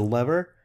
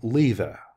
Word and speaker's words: lever: This is a lever. British say lever. You can say lever or lever if you're American.